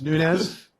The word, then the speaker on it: Nunes: the Chairman's award Nunes nominated by Tyson Pogue did I pronounced that right is it Nunes or Nunes yeah POG is correct it's nunz okay great began her